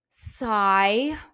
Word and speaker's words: sigh: Sigh, GH is silent here. It kind of makes like a sound.